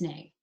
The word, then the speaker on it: nae: nay instead of no, you can write nae. I get that it's nay. You get that it's nay. And the person who says it out loud is going to get that it's nay.